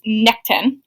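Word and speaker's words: Nechtan: The Dagda had desired Boann, who was married to a different Irish god, I believe it's Nectan, is how you pronounce it, to be with her without causing suspicion.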